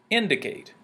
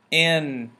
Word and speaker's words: indicate: The stress is on the first syllable, in. The second one is going to be the unstressed, d. And then the third one is going to be more medium, Kate.